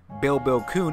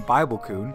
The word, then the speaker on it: Bill Kuhn: According to the ever-reliable data miner Bill Kuhn, I think I said it wrong last time, I think I called him Bible Kuhn, Nintendo is planning to